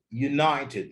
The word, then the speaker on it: United: United the stress is on the second syllable.